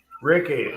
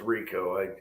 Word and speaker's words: Ricky: Reese, how do I pronounce that front name? Ricky. Okay. Ricker. Ricky. I thought it was Rico.